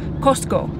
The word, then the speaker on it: Cusco: cough sound and so the way you actually pronounce it in Quechua niz Costco like like the wholesale marketplace Costco that's the actual pronunciation